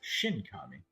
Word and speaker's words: Shinkami: And for a second, my brain wanted to say Shikigami, but it's Shinkami.